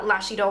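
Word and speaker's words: Lash Idôle: say that the lancome i presume it is pronounced uh lashy dole mascara and then we're gonna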